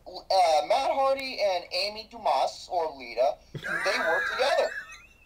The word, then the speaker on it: Dumas: matt hardy and amy dumas or lita they work together the s is silent oh my god that